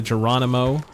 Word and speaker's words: Geronimo: So this is for a bike part for the Geronimo. I have to respect it because it uses a soft G.